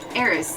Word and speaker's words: Aras: There's a reason when people tell me how to pronounce, ask me how to pronounce my name, I'm like, oh, it's Aras, like goddess of discord.